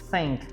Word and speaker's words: think: Agora, o think, eu tenho que falar think, com esse TH. Pronúncia simples, vou ensinar rapidinho aqui pra vocês, ó. TH, língua aqui na ponta do dente, você não vai falar nada, você vai só assoprar, e não vale dar risada do teacher, ó.